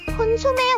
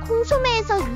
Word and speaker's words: 콘소메: 수프는 맑은 고기 국임 콘 소매의 원래 발음은 프랑스의 맑은 수프 요리인 콩 소매에서 유래된 말로 이걸 콘 소매로 발음하다 발음이 비슷한 덕분에 콘수프 즉 옥수수와 같은 것이라고 착각되는 것이라고 추정함 다시 말해 옥수수랑 일도